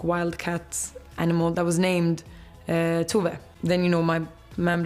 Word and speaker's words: Tove: The judging panel today was joined by Swedish pop star Tove, as RuPaul pronounced her name not once, but twice, which kind of shattered my entire reality because I, a peasant, had just been saying Tove the entire time I listened to her music.